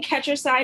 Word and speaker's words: Ketcherside: st louis and megan is your last name pronounced curtis side let's catch your side catcher side okay megan catcher side and she is the